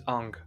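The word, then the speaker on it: Aang: hours and of course his name is aung rhymes with the Wang you know what Wong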